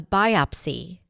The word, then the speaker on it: biopsy: The doctor ordered a biopsy to determine whether the tumor was cancerous. So biopsy is another important word to know. The stress is on the first syllable. BI-op-sy. Biopsy.